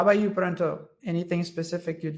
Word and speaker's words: Pranta: So I know that the way that it pronunciates is pronto, but it's not an O at the end, it's an A.